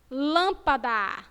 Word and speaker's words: lâmpada: E o som dela vai ser o quê? Fechado. Lâmpada, lâmpada. Vocês pronunciaram com o som fechado.